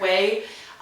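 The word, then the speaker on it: Ouai: And then currently I've been reading Blowing My Way to the Top by Jen Atkin. So good. She's the girl who started Way shampoo and conditioner, which I've talked about. My Way shampoo, it's spelled O-U-A-I.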